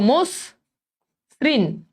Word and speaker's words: মসৃণ: তাহলে এবার দেখো মোস শ্রীন, অনেকেই এটার উচ্চারণ লিখো মসৃণ, এটা কিন্তু ঋণ না, মোস শ্রীন, মোস শ্রীন।